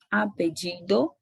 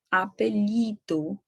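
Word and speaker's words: apellido: E quando se referir essa palavrinha apedido, ela pode ser pronunciada tanto como apedido como apelido.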